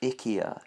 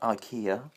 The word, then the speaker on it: IKEA: of something wrong, people are like, actually it's pronounced IKEA, not IKEA, and Whatever, then.